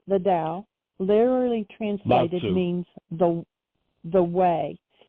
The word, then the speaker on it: Tao: Tao, even though it's a T? Okay. It's pronounced as a D, yeah. Okay. So that which Lao Tzu called the Tao, literally translated means the way.